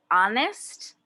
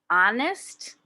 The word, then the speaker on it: honest: it's important to be honest honest what letter is silent h paula doesn't like her